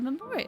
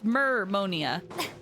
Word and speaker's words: Mermonia: So we have to go to the Pele Memoria, it seems. Memonia. Why do I keep saying Memoria? Memonia. Or it's Mermonia. Mermonia, not whatever I was saying before.